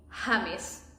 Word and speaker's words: James: In Spanish, we call him Hames.